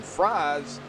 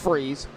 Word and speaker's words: Fries: Now he is going to dive it high right behind the two of Brandon Fries, or Freeze. It's pronounced Freeze. Brandon Freeze.